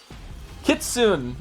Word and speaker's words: Kitsune: Kitsune. There you go. Mission isn't over yet. Oh I said it right. Kitsoon.